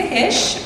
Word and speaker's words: Hische: my name is Jessica hish it's pronounced hish not hisy or heish or all sorts of weird ways that people like to pronounce it I pronounce it incorrectly according to my German ancestors um and the Germans